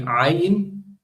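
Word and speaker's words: עין: Likewise, the ayin, right? It's pronounced using the throat.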